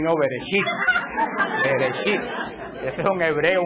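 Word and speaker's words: בראשית: No, Shibirichibi, no, Bereshit.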